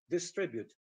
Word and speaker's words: distribute: mean the same and the word distribute in the dictionary you'll find that it is stressed on the second syllable distribute so to keep the